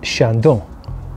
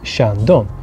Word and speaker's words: Chandon: Finally, number 1, Moet and Chandon. Moet and Chandon. So you actually pronounce the T.